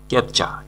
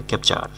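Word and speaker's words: capture: close মানে বন্ধ করা ক্যাপচা ক্যাপচা অনেকে কিন্তু এটাকে উচ্চারণ করে ক্যাপচার ক্যাপচার হবে না ক্যাপচা সঠিক উচ্চারণ ক্যাপচা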